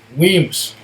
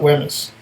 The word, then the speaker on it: Wemyss: Wemyss. Not Wemyss.